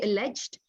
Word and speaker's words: alleged: Alleged. Yeah, you've got different pronunciation, yeah. For US, usually they will say alleged. For the UK, they always say alleged.